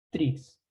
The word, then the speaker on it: trie: estructura que se llama trees, ¿ok? Una estructura que se llama trees, ¿ok? O tree, ¿ok? ¿Qué cosa es el tree? Tree que se escribe como trie, ¿ya?